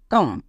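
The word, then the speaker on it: calm: টক next এখানে এল এর পরে এম আছে তার মানে এল সাইলেন্ট সি এ এম কাম বোঝা গেল নেক্সট এবার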